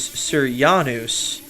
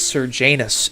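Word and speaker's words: Sejanus: I thought it was Seryanous was the character was the character that he impersonated, but in the audiobook, according to them, it's Serjanus and I am a 13-year-old boy at heart.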